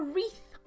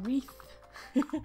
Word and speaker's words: wreath: For Learn Sushi, a wreath. Wreath. And Oksana as well. Perfect. Yeah, a wreath. So a wreath, we kind of say like a wreath. Like this. Yeah, wreath. So the W is silent.